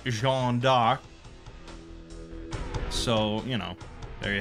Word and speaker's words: Jeanne d'Arc: on Joan of Arc, which in French is pronounced Jeanne d'Arc.